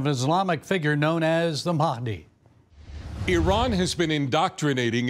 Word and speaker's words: Mahdi: Islamic expert Raymond ibraim so the Mii as as an English speaker would pronounce it it's really Mahi which basically means guided so